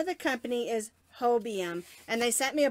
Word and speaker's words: Hobium: because I am horrible with understanding how to pronounce names and so the name of the company is Hobie M and they sent me a box of yarn